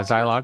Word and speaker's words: Zilog: Is it zilog? Yeah. Zylock. Zlog. Zylock. Zylock. Zylock. Z. So it's the long eye.